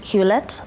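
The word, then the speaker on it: Hewlett: those past years just before you joined HP hulet um packet that's the correct pronunciation as CEO yeah um so the the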